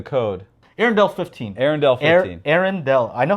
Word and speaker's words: Arendal: Arendal.